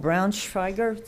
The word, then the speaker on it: Braunschweiger: So our next speaker is Paul Braunschweiger. Did I pronounce it correctly?